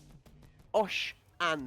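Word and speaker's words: Oshanne: Disrespect meant, but Osh An we're going to go with, GG. Osh so it's An, Osh, okay. OSH-A-N-N-E for pronunciation for you guys in the chat.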